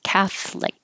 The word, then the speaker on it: Catholic: And the Catholic, there's an O in the middle, but we don't say the O, it just drops. So it's Catholic.